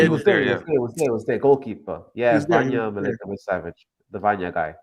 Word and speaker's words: Vanja: Yeah, Vanya Milinkovic Savage, the Vanya guy. Vanya. His name is Vanya. Yeah. How to spell that?